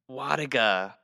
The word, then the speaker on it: Wlodyga: So the L is silent. So it is Wlodyga. Wlodyga.